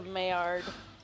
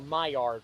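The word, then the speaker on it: Maillard: Where are you having it? My yard.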